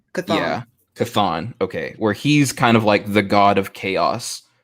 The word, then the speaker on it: Chthon: Is it spelled CHTHON? Chthon. Yeah. Chthon.